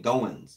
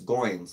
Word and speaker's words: Goins: Like I remember at Michigan State, Kenny Goins, people were saying Goins. It's Goins, like coins, stuff like I'm trying to think.